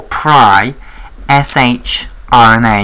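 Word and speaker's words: pri-shRNA: as the pre or pry sh RNA. And you'll see why I pronounce that pry rather than pre because later we will see something that has a better claim to be pronounced pre.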